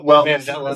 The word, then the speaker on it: Mandela: Mandela. So there's the Mandela Effect. Right, because it's based on Nelson Mandela. Right, which is a whole controversy. Right. I'm not sensitive to that Mandela Effect.